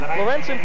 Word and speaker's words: Lorenson: Jim biskin Lorenson actually let's get the right pronunciation for this state champion Lorenson from Green Bush 6